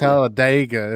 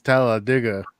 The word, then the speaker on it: Talladega: It's not Thank- Talladega, it's Talladega. Talladega, okay.